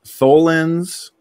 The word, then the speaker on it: tholins: complex organics forming in Titan's atmosphere, known as tholins, chains of amino acids similar to proteins? Did I pronounce that right, Luca?